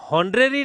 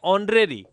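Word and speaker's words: honorary: लेकिन जब हम इन दोनों को बोलेंगे तो यह होरेरी नहीं है। यह क्या है? ह लिखते ही गलत हो जाएगा। यहां है ऑनरेरी। क्या आएगा? ऑनरेरी। एच इसमें क्या है? साइलेंट है। तो ऑनरेरी जॉब यानी कि अवैतनिक नौकरी।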